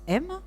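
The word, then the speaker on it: אם: de notre père donc en hébreu la mère se prononce m et notre père s'appelle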